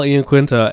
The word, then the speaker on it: Iaquinta: Also on this card, we have Austin Vanaford and Gabriel Zangief Chico versus Raging Al Iaquinta and Platinum Mike Perry. I think it's Iaquinta is how you pronounce that.